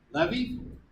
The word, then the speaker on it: levee: Levees? Leaf. Leaves. Spell. L-E-E-V-E. Yeah, well, I pronounce it levee.